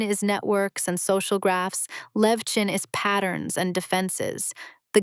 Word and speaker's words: Levchin: Max Levchin. Some people lean a little heavy on the second part and make it sound like Levkin, but your version is totally natural.